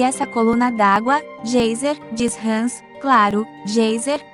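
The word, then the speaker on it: Geysir: 10 toesas o gêiser termo que os islandeses pronunciam gêiser e que significa furor ergue-se majestosamente em sua extremidade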